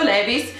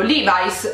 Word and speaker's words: Levi's: Io l'ho sempre pronunciato Levi's fino a quando ho sentito gli americani pronunciarlo Levi's e poi mi è venuto il dubbio, ma com'è che si pronuncia veramente Levi's, Levi's, boh? E cercando su internet mi sto rendendo conto in questo momento che si pronuncia Levi's, ok? Quindi evidentemente l'abbiamo sempre tutti pronunciato male in Italia, ma è Levi's, ragazzi, Levi's.